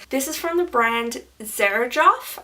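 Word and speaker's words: Xerjoff: is from the brand Serge off I think is how it's pronounced it's about XC rj o FF it's very well known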